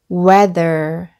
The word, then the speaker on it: weather: 로 발음 되고 , th 는 함께 묶어야 하는 이중 자음 입니다 . 이 경우 'the' 는 유성음 으로 발음 되고 , 이 ' R' 도 함께 묶여 있으므로 ' weather, weather' 로 읽어야 합니다 .